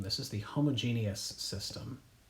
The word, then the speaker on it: homogeneous: I'm not mispronouncing that there are two e's in this word okay it's not homogeneous it is homogeneous and I am a